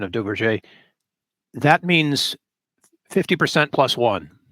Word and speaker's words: Duverger: You could pronounce it Duverger's law. That'll help you more phonetically find it. It's probably closer to Duverger.